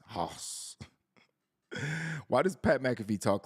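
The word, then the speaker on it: Haus: house dog house but a house is spelled like Pat McAfee would spell it it's h a u s hos why does Pat McAfee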